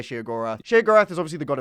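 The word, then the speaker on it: Sheogorath: Uh this is uh the alter ego of Shear or you can say Shogorath or Shaggarath. There's two ways to pronounce it. I'm going to say Shaggorath.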